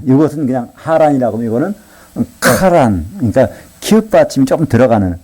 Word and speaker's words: 하란: 히브리 말로는요 조금 이게 다른 발음이 나요. 이것은 그냥 하란이라고 하면 이거는 카란.